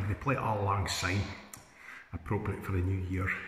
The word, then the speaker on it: syne: who's near Scottish um it's old long sign pronounced to an S no Z like Zimbabwe or zebra that's totally wrong um you hear it